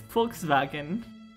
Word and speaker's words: Volkswagen: Also, fun fact, if you're pronouncing it extra German, it's Volkswagen.